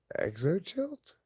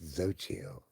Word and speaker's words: Xochitl: I looked at him like, "Your name's Exochilt?" I've never seen or heard of it before. She said to me, "It's pronounced Xochitl." I was like, "Oh, cool, okay, righteous." So her name was not Exochilt.